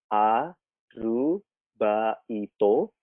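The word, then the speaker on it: アルバイト: partime atau biasanya disebut arubaito ini KPK tekanan bacanya A lu Baito ya bisa dibaca Jerman harga it ya arubaito atau kerja paruh waktu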